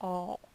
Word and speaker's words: awl: they had this little all and it's spelled awl um like a Carpenters all except it's much smaller